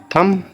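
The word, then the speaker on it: thumb: तो हमें क्योंकि बी को तो प्रोनाउंस नहीं करना है ना लास्ट में यह समझ लो कि आप प्रोनाउंस नहीं करेंगे हम इसको। ठीक है? और टी से पहले आ रहा थंब।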